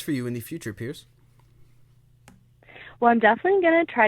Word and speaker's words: PI3RCE: goth so definitely go check that out it's Pierce and Pierce is spelled pi/3 RCE music on Instagram and Twitter